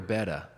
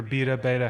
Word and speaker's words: Beta: Benny Bloss signed with Ducati or Betta? No, Betta. I apologize. He or Beta, however they. How do you say that? Fucking, it's Betta. I think it's Beta. No, one T. It's one T.